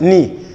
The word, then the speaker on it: knee: english language that says whenever i find k before n you just start from the end you don't pronounce the k that is we have knife knight no not and knee now you might ask